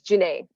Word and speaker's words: Janae: pronounce your name please that's Janae like Renee just Janae just making